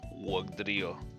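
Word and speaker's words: Wugtrio: Oh yeah, so there's a weird T. T sounds like D. Wugdrio.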